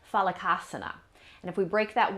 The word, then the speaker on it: Phalakasana: Today we're going to be looking at plank pose, and in Sanskrit this is pronounced Phalakasana.